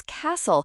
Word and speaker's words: castle: The answer for question seven is castle. Remember the T is silent.